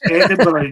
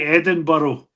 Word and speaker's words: Edinburgh: Edinburgh. You say Edinburgh, and it's Edinburgh. Edinburgh, like a borough, Burra, borough.